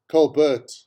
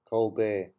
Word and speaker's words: Colbert: over two years ago she pronounced the one late night uh talk show host colbert cole burt stephen colbert instead of colbert colbert there goes your credibility